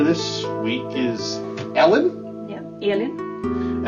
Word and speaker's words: Elin: Yeah, Elin.